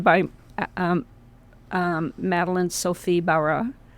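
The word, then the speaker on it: Barat: um um Maline Sophie Barra T is silent in French as we know.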